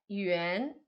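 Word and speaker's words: 园: E aqui embaixo, esse ideograma aqui, que é outra coisa, que é parque, é yuan. Yuan é segundo tom, tá? O pinyin é o mesmo, é Y-U-A-N.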